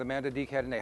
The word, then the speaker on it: Amanda de Cadenet: to watch the uh uh the conversation with amanda d cadeny how'd i do you did awesome and you pronounced my name beautifully thank you john all